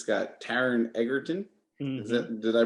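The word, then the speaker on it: Taron Egerton: about an hour for 46 minutes it's got taran eggerton did i pronounce it correctly yes you did he is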